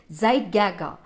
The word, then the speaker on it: Zeitgeber: The environmental cues reset the rhythms each day are called Zeitgeber. Zeitgeber is a, just to see, it's a pronunciation, Zeitgeber, it's a German word, it is known as time giver.